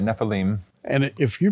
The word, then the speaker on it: Nephilim: the way you pronounce it yep that's right neim and if you pronounce it that way it's got to be